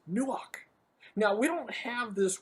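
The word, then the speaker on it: נוּחַ: It's a hard CH, almost a K sound, where we almost spit that word out, the k from the back of the throat, nuach.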